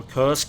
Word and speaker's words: Kursk: terrain it reminds me of course or Kursk if you insisting of the american or british pronunciation I have a lot